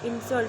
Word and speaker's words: insult: However, here are a few words that are pronounced differently when they change word class. Okay. So when it is a noun, insult, when we talk about insult, that is an insult. So we put stress on I and in.